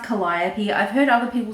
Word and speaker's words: Calliope: I think it's pronounced Calliope I've heard other people say Calio but I think it's Calliope is how you say that word which I think is the